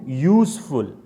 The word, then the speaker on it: useful: the sound the pronunciation okay how do you pronounce you useful what is the spelling of you y-o-u right